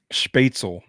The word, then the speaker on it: Spätzle: How do you pronounce? Is it Spatzel? Spätzle? Spätzle.